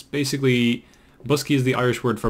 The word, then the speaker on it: Boscaí: word and it's basically busky is the Irish word for boxes just that's simple as that and as you can see it's pronounced like bus key because you know Irish is weird yeah I mean like